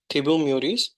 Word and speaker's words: Thibaut Meurisse: he's a French author, and his name is, if I'm pronouncing it correct, it is Thibaut Meurisse. In French, it is pronounced a little bit more differently, but you got the gist, right?